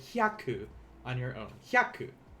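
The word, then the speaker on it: ひゃく: have to remember that this HYA here is one syllable in Japanese. This is not hayaku, because that is a different word. This is hyaku.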